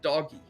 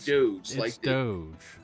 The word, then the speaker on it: Doge: die in this hill it is pronounced doggy not Doge no no no it is doggy it's definitely Doge here's the hill here's